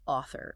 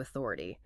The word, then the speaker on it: author: But phonetically, those C's form a hard, sharp K. It's soccer. Another classic trap is author, which often gets distorted into authority.